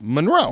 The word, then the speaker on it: Monroe: Then, like now, it's always been pronounced Monroe. Monroe, Marilyn Monroe. Emphasis on the second syllable.